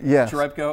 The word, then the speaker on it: Cherepko: welcome to Showcase Pittsburgh am I pronouncing your name right chco correct I was just afraid